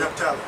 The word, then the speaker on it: Naphtali: That's how you say it, Naphtali.